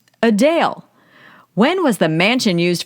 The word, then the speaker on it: Adele: election paper what is the correct way to pronounce singer Adele's name Adele when was the mansion used for vekna in stranger things built 1882.